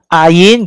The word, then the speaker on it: ayin: Ayin, just like Y, but warning, do not pronounce and confuse this as Y. Many of the students, in fact, for some time, they cannot this. Whenever they read the ayin, they will say yeah, yeah, yeah. That is not pronounced.